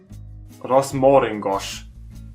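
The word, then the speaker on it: rozmaringos: Rosmaringos. Because the A is also O if there's not an accent on it.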